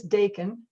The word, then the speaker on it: Dakin: school student named lewis dakin rhymes with bacon todd no relation i'm